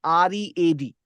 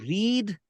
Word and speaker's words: read: I have the spelling of the word that follows thereafter is R-E-A-D, which can be pronounced as read when we are talking about the present time.